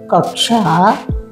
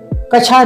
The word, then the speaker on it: कक्षा: बनने वाले शब्द है कक्षा कक्षा कछा नहीं कहेंगे कक्षा क्षत्रिय क लगा कर